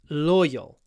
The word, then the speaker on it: loyal: loyal to their owners loyal the stress is on the oi so know a nice long L at the beginning with your lips forward in the O position loyal to their owners